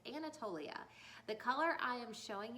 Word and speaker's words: Anatolia: Now, I had to look up the pronunciation of that name to make sure I was saying it right, but it's Anatolia.